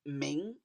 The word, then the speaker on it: 明: This word is pronounced ming.